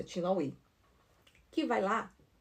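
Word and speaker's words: LaHaye: Como é que se pronuncia o nome dele? Tin tin lai. É isso, é lai.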